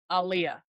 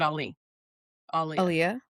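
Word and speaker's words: Aaliyah: Um 2001 Aliyah. Aliyah. Aliyah. It's pronounced like Muhammad Ali. Ali Aliyah.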